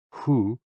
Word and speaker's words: hu: HOO, pronounced like hu, which is associated with the spleen.